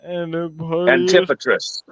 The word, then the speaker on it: Antipatris: Antipatris.